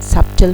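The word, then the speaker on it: subtle: सारे आगे यहां हम सबटल में ये बी साइलेंट है यहां पर देखें बहुत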